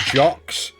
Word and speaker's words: Jacks: a dex saving throw, Jack. Yeah. Jack. I don't know who Jack is. Jacks. It's pronounced jocks.